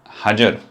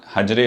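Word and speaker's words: حجر: इसकी अमूमन मैंने प्रोनाउंसिएशन अगेन काफ़ी अमूम में मतलब ये है कि हिजर अस्वद लोग बोल देते हैं, मगर असल जो प्रोनाउंसिएशन है हजर यानी पत्थर, और हजर अस्वद काला पत्थर।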